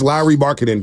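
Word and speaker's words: Markkanen: of having Lowry marketing okay and yes it's Lowry marketing Sarah Todd told us here for everybody confused on how to pronounce lry marketing because people are telling us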